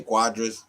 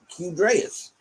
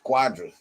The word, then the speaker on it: Cuadras: the same sting from cadres cuadras they say cuadras then the squadrous i mean i guess it is i i didn't know they would have pronounced it like that i'd have been like q dress or goodreads that would have been better than what i